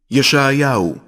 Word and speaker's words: ישעיהו: ישעיהו, שליח אלוהים.